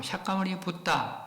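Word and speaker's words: Śākyamuni Buddha: 그런 것이고 실제로 석가모니불 인도 발음으로 샤가모니 붙다.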